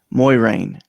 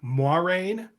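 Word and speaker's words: Moiraine: steve's one for one this one is spelled m o i r a i n e hm overthinking it muay rain okay i think it's actually moirene but it will always be moiring to me as well okay kitty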